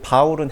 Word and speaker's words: 바울: 그래서 이름은 사실은 사울과 바울이 작은 자 큰 자 뭐 그런 게 아니라 사울은 히브리 발음이고 바울은 헬라 발음이에요.